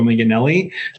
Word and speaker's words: Manganelli: You did a a good job pronouncing my name. It's Miganelli.